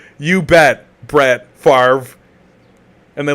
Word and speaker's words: Favre: It's pronounced Favre.